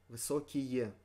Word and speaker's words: высокие: Высокие. Высокие. In this case, the pronunciation lays more on the side of ие. Высокие.